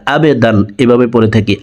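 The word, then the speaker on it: عَبْدًا: أرأيت الذي ينهى عبدا আইনকে হলকের মধ্যখান থেকে উচ্চারণ করব কারণ আইনের মখরাজ হলকের মধ্যখান থেকে হবে আমরা অনেকে আইনের উচ্চারণ সঠিকভাবে পড়তে পারি না আবেদান এভাবে পড়ে থাকি আবেদান হামজার উচ্চারণ করা যাবে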